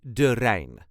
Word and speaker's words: de Rijn: the River Rain of durain this is the way us duchies say durain R there is no emphasis d r all the letters will be pronounced no rolling R is needed if you're having trouble